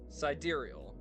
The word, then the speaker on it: sidereal: I'll open it at least so you can, pronunciation. Sidereal.